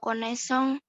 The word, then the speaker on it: connaissance: Kalau pose S-nya 1, kalau connaissance S-nya 2.